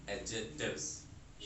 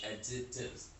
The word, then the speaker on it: adjectives: The pronunciation of this word is adjectives. Adjectives. D is little bit silent.